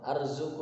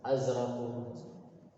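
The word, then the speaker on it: أزرق: Warna biru Nah ini bukan urziku ya, atau arziku bukan, rozako yar afan, arzuku bukan, tapi azraku. Nah, ini bacanya azraku.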